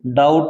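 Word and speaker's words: doubt: क्या होता है भी डाउट में बी साइलेंट है डाउट माने होता है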